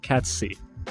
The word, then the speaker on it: Kacc: Yeah, Kacc. So it's like cats, like the cat, and then C with your eye.